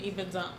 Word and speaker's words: Ibadan: is it Ibadan? It's Ibadan. Forget about how it's spelled.